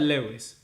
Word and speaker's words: Luis: You mean Luis, me, or someone Lewis as well? Because you pronounce that Lewis, which is kind of Luis in Britain, right? But my name is Luis.